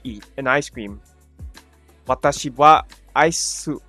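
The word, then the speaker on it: は: Okay, it's pronounced wa instead of ha.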